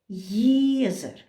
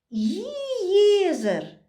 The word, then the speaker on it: юаизер: Как бы ие так плавно надо перевести. Не иезер. Если бы мы написали без буквы И перед Е, Езера, не совсем правильно это будет.